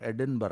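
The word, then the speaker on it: Edinburgh: ऐसा नहीं है भैया लिखते हैं एडिनबर्ग बोलते हैं एडिनबरा वही वाली पहली बात है बचपन में हम लोग बीओटी बट हो जाता है।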